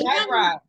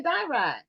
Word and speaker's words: Dayirai: Okay, because she put the pronunciation behind her name, so we can make sure we said it correctly. Oh, okay, Dayirai. We were we were nowhere near that at all.